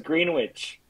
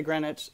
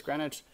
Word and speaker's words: Greenwich: to think I used to think it was Greenwich um well I mean people pronounce it both but uh but I say yeah I say Greenwich I'm pretty sure it's Greenwich yes it is yes so so Washington Square